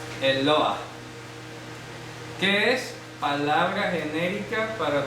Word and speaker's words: Eloah: Eloah. Se pronuncia así. Eloah.